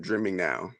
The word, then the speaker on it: Dreaming Now: So I've been calling this person Dreaming Now. Is that how you pronounce that person's name? Yeah, that's how I say the name, Dreaming Now.